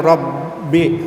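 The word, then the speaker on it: رب: Kemudian Rabbi. Nah, jadi hukumnya adalah takrib karena ada ra bertanda fathah. Cara membacanya harus dilemahkan dan jelas.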